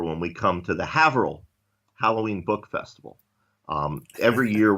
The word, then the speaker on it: Haverhill: So, I will say, by the way, that firstly, it's Haverhill. No, I'm always going to pronounce it Haverhill.